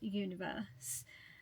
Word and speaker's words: 1VERSE: of course Universe um they spell it out like one universe or onee but they call themselves Universe oh my God I'm so